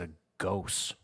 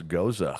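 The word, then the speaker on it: Gose: drink this can you tell me I've always pronounced this as a ghost um yeah he has no idea he's just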